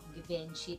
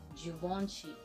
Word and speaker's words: Givenchy: Pag binasa nyo, Givenchy, pero ang pronunciation para sa kanya ay Givenchy.